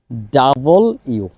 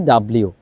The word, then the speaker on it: W: এর sound V then ডাবল ইউ আমরা সারাজীবন জীবন পড়ে আসছি ডাব্লিউ এটা রং আমাদেরকে শুদ্ধভাবে উচ্চারণ করতে হবে ডাবল ইউ ডাবল ইউ তারপর এক্স ওয়াই জি